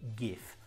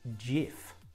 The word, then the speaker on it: GIF: about a year ago didn't know how to pronounce gif I was saying gif I had no idea the actual pronunciation is gf so you add gifs to your Instagram stories